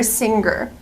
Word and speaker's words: singer: pronounce the word singer I cannot pronounce the G sound the hard G in this word I have to use a nasal Sound sing singer not singer but singer example she's a good